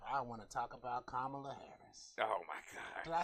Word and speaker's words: Kamala Harris: But while we're talking about political stuff, I want to talk about Kamala Harris.